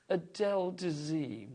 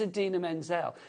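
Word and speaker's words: Idina Menzel: actually say her name so he introduces her as the wickedly talented and then he just goes Adel Dee and it's like her name is Adena Menzel it doesn't even sound like you know what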